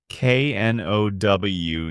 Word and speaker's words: know: K N O W know means you have information in your mind. I know his name. Another silent K to watch out for.